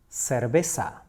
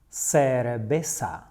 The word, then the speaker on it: cerveza: In Spanish, we say cerveza. Cerveza. Note that you may hear some people pronouncing it in a very slightly different way, like cerveza.